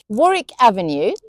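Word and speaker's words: Warwick Avenue: Then we have the ones with silent w Dalich Woolitch Greenwich Chisik Warick Avenue and Sabuk.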